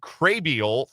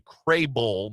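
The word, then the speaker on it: Krehbiel: veteran right-hand reliever Joey Crabial from Tampa Bay in exchange for cash. It's actually Crayull. My mistake, the pronunciation guy didn't load quickly enough for me.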